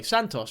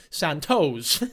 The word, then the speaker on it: Santos: So usually she'd pronounce Santos' name, you know, the Spanish way, Santos. But now that she's around Brianna Olsen, it's Santos.